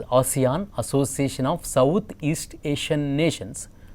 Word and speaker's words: ASEAN: So, ASEAN stands for, it is not pronounced as Asian, but it is pronounced as ASEAN, Association of Southeast Asian Nations.